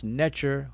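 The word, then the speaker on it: nṯr: How and who and why did that form that we pronounce Netcher, we transliterate as NTR, N capital T R, etc., or in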